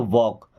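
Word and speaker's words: walk: अब इस वर्ड में एल हमारा साइलेंट है। क्या पढ़ते हैं? वॉक।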